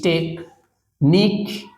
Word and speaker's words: technique: এটা এখানে এসছি ক্লাসটা নিতে টেক টি সিইচ টেক নিক এনই নিক এবার কিউ থাকলে আমি বারবার বলেছি